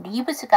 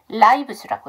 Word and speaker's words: lives: s를 붙여 주셔야 되죠 그래서 이걸 리브스가 아니라 라이브스라고 읽어 주셔야 돼요 자 그다음 여기서 보셔야